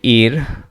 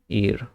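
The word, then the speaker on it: ihr: year না এটা হবে ইর ঠিক আছে এই যে আমরা যেটা বলতেছিলাম যে বাংলা উচ্চারণ দেখলে আমাদের মনে হয় যে ইয়র হবে কিন্তু আসলে হবে ইর আমরা যদি চলে যাই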